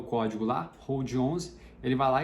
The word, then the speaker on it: HODL11: Mas por que a gente fala Hold 11, né? Hold é de segurar, seria o L antes do D, mas ficou por um erro aí de pronúncia, ficou o HODL 11, mas as pessoas acabam pronunciando Hold 11.